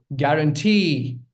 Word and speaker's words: guarantee: Guarantee. E sound. That's the stress. That's where the stress lies.